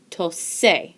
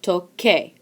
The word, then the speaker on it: toque: And that would be pronounced tose. Tose does not sound like tocar, so we change the C to a Q-U, and now we have toque. Toque sounds like tocar, so we're good to go.